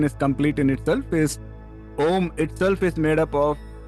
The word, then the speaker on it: Om: sure this session is complete in itself is Om itself is made up of 3 syllables, A, U and M.